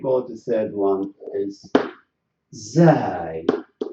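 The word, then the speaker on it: ز: And we've got the third one is zai. So these letters, they should be pronounced. We have to push the tip of the tongue to the bottom of our lower front teeth.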